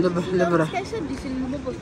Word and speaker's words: Louvre: What's the pronunciation? Louvre.